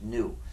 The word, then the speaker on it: GNU: The reason this word is so full of humor is because, according to the dictionary, the G is silent and it's pronounced new.